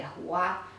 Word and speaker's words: Yahuwah: the closest would be the correct pronunciation of that would be Yahuwah.